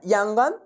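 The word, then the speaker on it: Yangon: তোমাদের হাতে উচ্চারণটা করার সময় এরকম চলে আসবে, ইয়া ও ইয়া, এরকম না, ইয়াঙ্গন, তারপরে কি আছে না নে, NAY নে, PY ট মান্ডালয়া বা মান্দালয় এক্সপ্রেসওয়ে।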